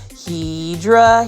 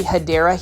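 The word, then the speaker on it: Hedera: scare you guys off with a random shout of Hedra Helix, but it's basically me mispronouncing a um plant name. It's actually Hideera Helix.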